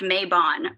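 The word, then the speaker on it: Mabon: i make it every year around maven mayban i think it's actually i read i listened to a podcast today and the dude was like it's pronounced maebon please stop but i make it i make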